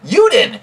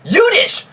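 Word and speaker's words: jüdisch: he's pronouncing jewish wrong he's saying juden it should be yudish yudish you dumb idiot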